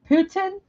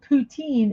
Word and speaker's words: poutine: the by French cuisine the name is pronounced Putin in the French dominated regions of Quebec but pronounced poutine in other areas the dish consists of